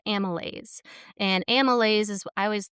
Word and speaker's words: amylase: And amylase is, I always like to remind people, it's spelled Amy Lays down next to cats, amylase.